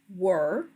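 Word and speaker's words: whir: And again, it is pronounced were.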